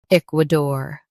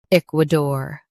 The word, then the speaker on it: Ecuador: k wuh dor Ecuador Stress the eek and keep dor light. k wuh dor Ecuador Practice repeatedly and you'll soon be able to say this word perfectly.